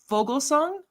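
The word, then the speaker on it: Foglesong: Fogelsong?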